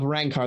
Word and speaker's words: Rankar: original rank of the house of rankar that's the right way to say it a descendant of the